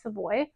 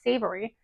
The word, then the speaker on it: savory: They're completely out of time, but I got this summer Savoy. No, I keep saying it wrong. It's summer savory.